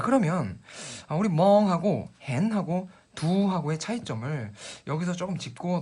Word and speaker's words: เห็น: 17번 단어는 단모음으로 짧게 hen 이라고 발음하시면 이 단어도 사실 보다라는 뜻은 있지만 보이다라는 지각동사로 우리가 많이 쓰이는데요.